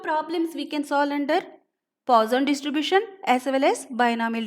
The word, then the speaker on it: Poisson: Normally we pronounce it as Poisson, but actually its pronunciation is Poisson distribution.